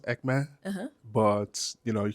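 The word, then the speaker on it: Ekpne: name is called what again ecme so it's pronounced ecme uhuh but you know you guys say ecen okay yeah e k p n e yeah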